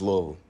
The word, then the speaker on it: Louisville: It's Louisville.